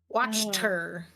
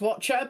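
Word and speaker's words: Wachter: are always watching ah her name is spelled w a c h t r watch her gotcha W Watcher I definitely thought it was like yeah uhhuh it's in Debbie's mind as Watcher but it's not spelled that way so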